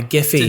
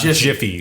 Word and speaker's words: GIPHY: GIPHY. Yes. I'm very happy you said Exactly. Giphy, not Jiffy. Jiffy. That's peanut butter.